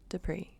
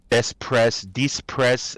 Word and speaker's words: Despres: I'd like to welcome award-winning filmmaker and the host for the Second Life Book Club, Despres.